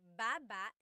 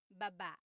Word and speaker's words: baba: So depending on how you're saying it it could be baba chin baba. Emphasis is on the first syllable. Then there's emphasis is on the second syllable syllable that means to go down baba like going down an elevator baba.